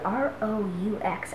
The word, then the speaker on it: roux: So the next step is to make the roux, and it's a French word, just like français, but it's spelled R-O-U-X.